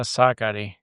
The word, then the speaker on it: Sakkari: Tell us how you really pronounce her name. It's Maria Sakkari.